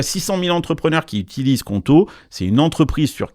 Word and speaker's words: Qonto: Justement, c'est là que Conto change la donne, parce qu'ils ont non seulement